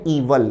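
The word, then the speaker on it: evil: द इवल intention. विद्यार्थी ध्यान दें। इवल का अर्थ है बुरा। शब्द का उच्चारण है इवल ना कि इविल।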